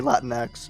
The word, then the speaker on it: Latinx: no it's definitely there's definitely supposed to be latinx but yeah yeah latinx but it's dumb so i pronounce it le tinx tinx because it's dumber that way um and